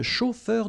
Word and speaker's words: chauffeur: Un chauffeur de taxi, okay? A-U-O, then E-U-R, heure, chauffeur.